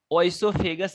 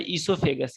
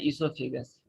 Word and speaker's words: oesophagus: The mouth, pharynx, इसोफेगस, ये OESOPHAGUS ओइसोफेगस लिखा है, लेकिन इसको प्रोनाउंसिएशन करना है, इसको बोला जाता है इसोफेगस। क्या बोलना है? Esophagus. ओम कुमार, आवाज जा रही है? Yes, sir. तो ये लिखा है ओइसोफेगस, लेकिन प्रोनाउंस करना है इसोफेगस।